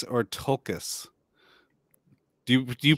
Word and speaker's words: Tolkien: say do you say took us or tolkas do you pronounce that l i pronounce the l because i don't want